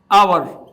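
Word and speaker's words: hour: एच लगा हुआ है, तो एच इज नॉट a vowel, H vowel नहीं है, लेकिन इसका जो साउंड है कई जगह ये साइलेंट रहता है, तो हम एच को यहां पर क्या प्रोनाउंस करेंगे, आवर।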